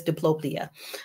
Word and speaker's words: diplopia: It's diplopia.